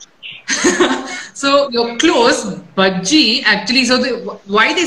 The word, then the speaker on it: Bajji: And तो यहाँ पे भी महाराष्ट्र में भी भाजी बुलाते हैं, but मैं भाजी नहीं हूँ, मैं बज्जी हूँ. So you're close. Bajji actually.